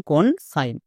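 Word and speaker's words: consign: বর্গীয় যোগ হয়েছে নেক্সট সি ও এন কন এস আই জি N Zain Zain কিন্তু না এখানে সাইন হবে কেন কারণ দেখো এস এর একপাশে ভাওয়েল আছে বাট আরেক পাশে নেই তাই এস এর জন্য দন্তস হয়েছে যেমন কনসাইন সো খুবই ইম্পর্টেন্ট রুলস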